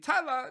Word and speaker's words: Thailah: on Instagram keep update with everything so mine's Tyler underscore tea spelled like Thailand so it's a little bit free